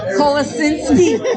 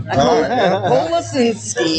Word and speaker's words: Kolasinski: Kolasinski.